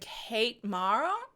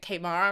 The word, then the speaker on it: Kate Mara: It's got Ellen Page and Kate Mara. That's how you say it. Kate Mara, right?